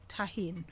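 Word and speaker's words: Tajín: cuisine um lime popcorn you know um tahin tahin i get corrected and how to pronounce it it's a mexican seasoning and it's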